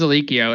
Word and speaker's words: Alikio: That works too, but it is Alikio, and you should know how to pronounce it.